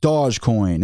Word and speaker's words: Dogecoin: I know a lot of people are like, that's not the way you're supposed to pronounce it. You're supposed to pronounce it Dogecoin. It's Dogecoin.